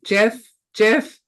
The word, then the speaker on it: GIF: tidying up, as you can see from the GIF on the slides. Wait. GIF, Stephanie.